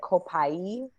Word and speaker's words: copaiba: And it's spelled copaiba. It sounds like copaiba.